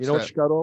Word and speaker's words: escarole: Escarole, but it's pronounced shkarol.